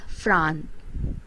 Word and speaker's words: franc: the next one is france and its currency is known as fran it pronounced fran and the next one